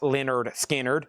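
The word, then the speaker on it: Lynyrd Skynyrd: There's their classic debut, pronounced Leonard Skard.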